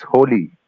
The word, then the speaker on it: Holi: Is it pronounced Holi, or how do you pronounce it? The name of it? It's Holi. Holi.